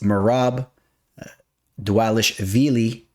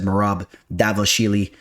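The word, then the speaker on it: Merab Dvalishvili: here it goes uh it's marab dualish veli taking on jose aldo so how do you like the pronunciation there maybe it wasn't perfect but i know it's it's damn well better than all the other times i've ever said marab davoshili uh so you know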